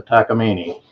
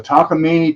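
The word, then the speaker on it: Takamine: what what what make is it can you pronounce the name uh that's a takini it's a takini 12 string and it was donated to our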